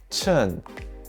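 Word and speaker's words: 衬: combined with the character ee this character is pronounced chen and it means underwear or lining to remember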